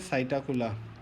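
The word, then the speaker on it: Psittacula: हम क्या बोलते हैं साइटोप्ला पीस साइलेंट है फिर ऑस्ट्रिच को हम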